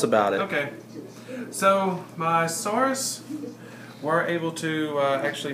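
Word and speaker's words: Saurus: carrying Spears SARS okay I'm going to need you to pronounce the sorus because you still are saying SARS like the the disease thanks I'm just want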